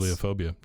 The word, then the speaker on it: Bibliophobia: Okay, see, I always want to say bibliophile, Yeah. but it's Bibliophobia.